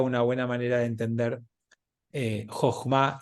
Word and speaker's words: Jochma: Jochma. No es con F, es con J.